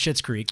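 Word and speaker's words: Schitt's Creek: you know it's pretty it's pronounced shit's creek but uh that that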